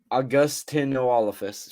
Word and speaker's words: Augustynolophus: And yeah, augustynolophus. I looked up the pronunciation. It's saying AW-GUS-TIN-O-LO-FUS. So, augustynolophus for anybody who's trying to pronounce it with me.